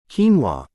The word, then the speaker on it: quinoa: Quinoa, the small grain with big muscle power.